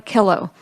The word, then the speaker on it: Killow: Killow, and thank you so much for saying her name so I know how to say it. Great, and I always say it rhymes with pillow, so there you go.